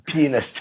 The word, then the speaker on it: pianist: A pianist. you have to pronounce a that piano correctly.